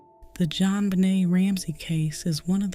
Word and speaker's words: JonBenét: Her name was French in style, pronounced JonBenét, and it suited her.